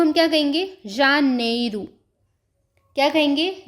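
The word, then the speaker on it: janeiro: तो चलिए एक-एक करके इनकी प्रोनाउंसिएशन को देख लेते हैं। जनवरी जनवरी को हम क्या कहेंगे? जानेरू क्या कहेंगे?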